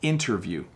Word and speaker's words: interview: important important so it as I say the word quickly i soften the T sound interview interview interview see how I almost dropped the T so the proper pronunciation is interview interview but when I